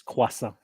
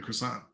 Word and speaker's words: croissant: when I say croissant is that I being pronounced it's cuasa because in the US you just like you're like let me get a croissant yeah of course just like you call it